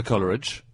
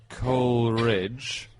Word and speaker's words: Coleridge: And in his own poems, he rhymes it with Polar Ridge, Scholar Ridge, and the whole ridge.